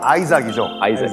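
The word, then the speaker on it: Isaac: 이삭, 영어 발음은 아이삭이죠. 태어나요.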